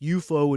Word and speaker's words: UFO: did a show called UFO, pronounced UFO in England, and on the show, and then they did Space 1999 after that.